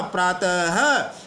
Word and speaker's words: प्रातः: पृथक उच्चारण होता है हम इसको एट नहीं बोल रहे हैं इसको हमने बोला अतः प्रारत नहीं बोला प्रातः नाम नहीं बोला नमः हरिहर यानी इसका पृथक